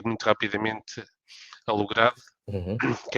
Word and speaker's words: Lugrade: parte da minha mãe daí a palavra logrado e não e não logrei como muitas vezes por vezes as pessoas pronunciam o que não está correto porque somos portugueses Somos